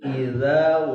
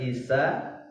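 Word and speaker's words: إِذَا: Idza bukan isa. Za halus. Za idza. Waqab. Jadi ba terakhir itu adalah juga harfun qalqalah, huruf qalqalah yang harus dibaca mantul. Idza waqab.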